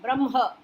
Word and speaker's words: ब्रह्म: Brahma. Ha should be pronounced or half ha and ma full.